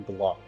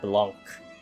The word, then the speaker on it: Blanc: Let me type it in chat, because I think you pronounce it Blanc, but it's B-L-A-N-C.